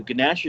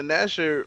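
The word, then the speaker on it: Gnasher: Now, the shotgun is a zoom in here and there, but it's the Ganasher is basically made to be kind of blind fired. He said Ganasher. Yeah, that G is silent.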